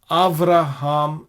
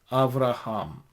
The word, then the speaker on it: אַבְרָהָם: This is consistently the case in the Tiberian Masoretic Hebrew texts, and it is pronounced as Avraham in Hebrew. Avraham.